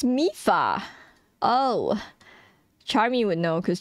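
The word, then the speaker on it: Mipha: Mifa. Oh, dude, you know why it fucks me up? Because I'm trying to pronounce it as like M-I-P, right? I'm trying to like Mipa.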